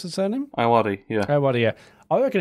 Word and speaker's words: Ayoade: Is that how you pronounce his surname? Ayoade, yeah.